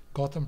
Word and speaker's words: Gautam: Gautam. Gotham pronounced as in Gotham City in Batman.